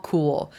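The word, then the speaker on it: Khul: Dwa Kul is how you pronounce this person's name. Dwa Kul, known as the Tibetan, is a Tibetan Buddhist master.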